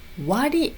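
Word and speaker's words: 割り: で他は、これは読み方割り、そう割りですね。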